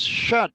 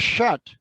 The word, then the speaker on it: shunt: looked it up and actually both pronunciations are correct believe it or not anyhow it is shut regulation now this one down here is series regulation this one down here is shot regulation it's important to know the advantages and disadvantages of both shot versus series versus shunt okay so we'll leave